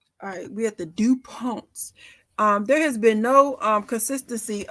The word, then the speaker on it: DuPont: The correct variation of the spelling is DuPont. Name are the follows: DuPont, DuPont, DuPont, DuPont, DuPont, and DuPont, indeed numerous. In English, the second syllable is accented.